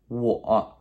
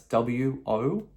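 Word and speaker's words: 我: put it up here somewhere, but it is pronounced wo. That's W-O, wo, me, I.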